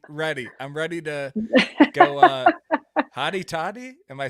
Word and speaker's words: Hotty Toddy: I'm ready to go hottie toddy. Am I saying it right? Hotty toddy.